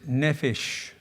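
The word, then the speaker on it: nephesh: because of its many meanings the word is neish and it's spelled in NE e p h e s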